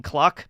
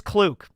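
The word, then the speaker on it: Kluck: Is he mispronouncing Cluck? No, her name is Klook. It's pronounced Klook. It's not Cluck. It's Klook. The name is a playoff of Cluck, but it's Klook.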